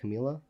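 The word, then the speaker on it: Camilla: Um but she turned it down and then Camila how do you pronounce that? Camila.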